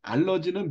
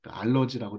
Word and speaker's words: 알러지: 알러지나 알레르기나 똑같은 얘기에요 알러지는 미국식 발음이고 알레르기는 독일식 발음입니다 고차에만 있는 거예요 우리나라는